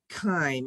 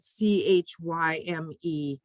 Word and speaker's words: chyme: I think it's pronounced chyme, actually. It's spelled C-H-Y-M-E, but I think you pronounce it K-I-M-E, chyme.